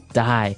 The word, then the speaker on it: dye: you're dying it okay dye so it's pronounced exactly the same way as you know to die to not live anymore die but it's spelled differently